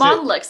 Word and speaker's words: Monlux: Monlux, exactly like it looks like Monlux. It's Monlux. Is just that straight up phonetic.